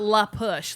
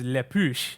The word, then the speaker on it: La Push: It is not La Push. Like, Ben, you're like at least a quarter French somewhere, Creole. Like, yeah. you cannot say it La Push. It's, Okay. It's like saying La Tortilla. Okay. It's just wrong. I did not know it was Le Push.